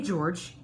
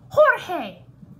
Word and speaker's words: Jorge: Oh, hey, George.